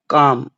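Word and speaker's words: calm: यहां काम है। यहां एल साइलेंट है।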